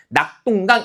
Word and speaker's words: 낙동강: 자, 지금이 똥은 발음하는 과정에서 나타난 된 소리이기 때문에 방금 봤던 규정에 따르면 발음하는 과정에서 나타난 된 소리는 표기에 반영하지 않는다는 거죠.